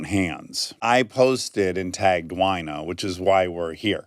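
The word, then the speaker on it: Wyna: We know that that's actually how her name is pronounced, Wina.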